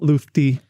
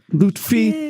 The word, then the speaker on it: Loutfi: So please welcome to the podcast, Loufti. Loutfi. I said it wrong.